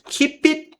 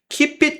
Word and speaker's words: keep it: Não lemos esse T porque já começa um outro aqui. E essa daqui, esse P, a gente vai falar ele forte, porque a próxima palavra começa com uma vogal keep to yourself. Então, de novo, esse P aqui a gente vai falar porque depois dele tem uma vogal. Já esse T a gente não vai falar porque depois tem uma consoante que é a mesma.